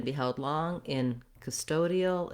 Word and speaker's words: custodial: When we change to custodial, now we have the stress on this middle syllable toe, custodial, and here is where we actually are going to say that clear O because that now is the stressed syllable.